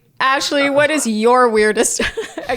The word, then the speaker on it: Ashley: I also wrote down the fact that he said that he calls me Ashley, not Ashley. It's Ashley. He has an extra syllable to my name. I had a vowel in there.